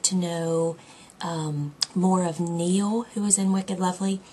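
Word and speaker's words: Niall: And um because I listened to the audio um the person on Wicked Lovely called him Neil. So I was glad because I wouldn't have pronounced it like that.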